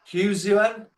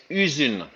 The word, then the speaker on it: Uzun: And I'm gonna try and pronounce this, but track 6 on the album, Huzuen? It's Uzun. Uzun.